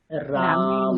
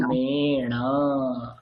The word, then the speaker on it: রামেণ: তাহলে এখানে দন্তান্ন কি দন্তান্ন থাকবে, কি হয়ে যাবে, না না মূর্ধন্য হয়ে মূর্ধন্য যাবে। হবে। মূর্ধন্য হয়ে গেলে কি উচ্চারণটা হবে, বানানটা কি হবে, রামেণ। রামেণ।